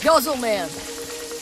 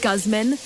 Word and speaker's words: Guzman: Hey, Guzzle Man. What time is it? It's pronounced Guzman, and it's time for you to buy a watch.